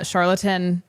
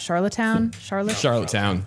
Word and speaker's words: Charlottetown: So obviously we don't have the audio for it because this just happened, but Charlatan, how do you pronounce that? Charlottetown?